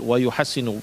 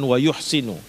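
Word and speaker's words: يُحَسِّنُ: baik memakannya ya wuhassinalikaqul wuhassinu bukan wuhsinu kalau kita membacanya wuhsinu Berarti pintar memakannya gitu masa Rasulullah disebut pintar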